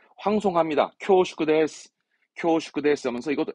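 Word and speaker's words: 恐縮: 이건 우리말이 없어서 공축이라는 건데 발음은 쿄슈크합니다. 쿄슈크. 쿄슈크 데스 하면서 뭔가 이 공축이라 하면 우리말로 뭐라 할까? 황송함 또는 죄송함을 말할 때 황송합니다. 쿄슈크 데스.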